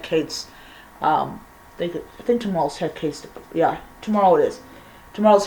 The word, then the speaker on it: Hecate: um i think tomorrow's haircast yeah tomorrow it is tomorrow's hecate's um diportum i always mispronounce it um and it's time to honor the goddess hecate oricati and so i have